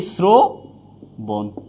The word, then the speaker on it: শ্রবণ: এখানে আমরা পেলাম কি, রফলা যদি শব্দের আদিতে থাকে, আদি বর্ণের সাথে থাকে, তাহলে এটা কি হয়ে যাবে, ওকার হয়ে যাবে।